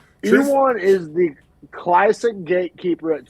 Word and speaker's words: Ion: I always want to say Ion, but they're pronouncing it Ewok Kudalova.